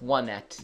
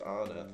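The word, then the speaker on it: Onett: No, it's one et. Yeah, well, it's pronounced on it, though.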